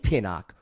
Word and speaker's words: Pinnock: Is it Pinnock? Is that how you say his name? Yes, Pinnock, correct.